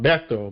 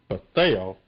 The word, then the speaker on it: Bethel: We had a great guest on the show, and she did correct all of us how to pronounce her first name. It's not Bethel, but it's Bethel Sheppard Bates.